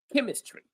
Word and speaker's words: chemistry: And hopefully you can you can you can confirm with me if you pronounce them correctly or not. So, from left to right, stop. Stop. Chop. Chemistry.